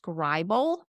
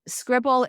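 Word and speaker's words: Scrible: so it's really pronounced scribal or should be pronounced scribal but the company calls it scribble but spells it with one b so scribble is a phenomenal tool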